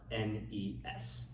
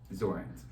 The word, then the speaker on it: Zornes: It's Zornes. Zornes. And as far as pronunciation, it rhymes with thorns.